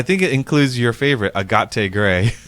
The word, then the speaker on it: Agate: I think it includes your favorite, Agate Gray. Yep, agate, Italian pronunciation.